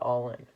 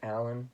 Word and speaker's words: Allin: And a match that I'm pretty interested in is Cody Rhodes versus Darby Allin. Now, I think it's actually pronounced Allen, but I like calling him Allin.